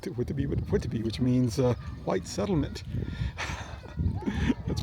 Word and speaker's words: Whitby: Almost, I pronounce it Whitby, right? Whitby, which means white settlement.